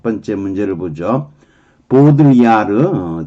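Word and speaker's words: Baudrillard: 보드리아르, 뒤는 발음 안 할 거고요.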